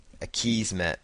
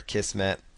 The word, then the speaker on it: Akismet: And then there's going to be another plugin here called Akismet or Akismet, depending on how you want to pronounce it.